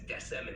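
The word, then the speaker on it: decem: 10 in ancient Rome they would pronounce X10 as desm in Latin and l50 as quink quenta all right thank you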